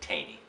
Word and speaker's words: Taney: Or as the Coasties pronounce it, Taney. That's not how the family pronounces it. They pronounce it Taney.